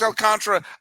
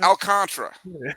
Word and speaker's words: Alcantara: You mispronounced Alcantara. I'll mispronounce Galen. We're even. All right, we're good. Is it not Alcantara? Is it Alcantara? It's Alcantara.